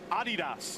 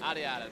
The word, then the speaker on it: Adidas: Did you know that's not the way it's pronounced? Adidas. Adidas.